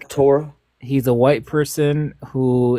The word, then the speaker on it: Torah: So, Torah keeper and it's pronounced tora, not Torah. Not sure where they got the Torah from.